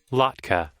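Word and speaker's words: latke: Oh, is that how it's pronounced? Lki. Lotka.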